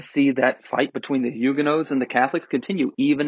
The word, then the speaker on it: Huguenots: And once again, Catholics on one side, and not Lutherans this time, but Calvinists, specifically Huguenots, or Huguenots, if you're going to pronounce it in the English way, on the other side.